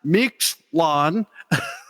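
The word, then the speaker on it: Mictlán: for the first single michlan pronounced mix lawn off their forthcoming album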